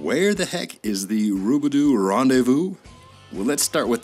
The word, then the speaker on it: Robidoux: like that i say rubidoo kind of rolls off the tongue and if the way i say it rhymes with rendezvous now so wrong there